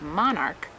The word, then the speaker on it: monarch: exception to this rule if your last name ends in ch but it's pronounced with the hard K like in the word Monarch then you just add